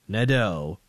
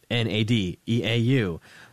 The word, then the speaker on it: Nadeau: So, that's a French name. Parlez-vous français, petit peu? Like, none. No, I've got nothing here, except I've got, enough to get annoyed that so few people pronounce Nadeau correctly.